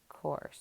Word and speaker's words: course: So that U is silent there. Here at the end, the E is silent, and you remember you don't want it to look like it's plural. So they put that silent E there.